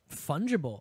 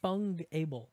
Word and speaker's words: fungible: fungible. I thought Has it was to do fungable No, fungible. is how it's Fungible?